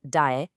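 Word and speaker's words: 待: This one is pronounced dae, and it means to wait.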